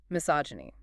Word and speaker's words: misogyny: Misogyny. Misogyny. Right, pronunciation.